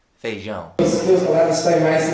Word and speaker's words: feijão: My pronunciation of feijão is wrong. It's a mixture of feijoada and feijão, the proper way to say beans.